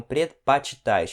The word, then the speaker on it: предпочитаешь: Aqui você pode ver que essa letra é pronunciado como se fosse um A. Isso aqui é a letra O, só que é pronunciado como se fosse um A. Ok? Então, предпочитаешь, não предпочитаешь.